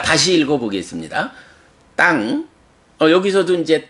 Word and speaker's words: taṃ: 땅 여기서도 이제 따 다음에 요 M의 밑에 점 붙으면 응이라는 소리거든요. 응 해서 땅 하는데 역시 땅 짧게 발음하지 말고 따에다가 응이 바로 받침으로 들어가 있기 때문에 받침만큼의 응가 길이가 있어요. 그래서 땅 약간 길게 한 음절 반 정도의 길이로 땅 읽어주고요.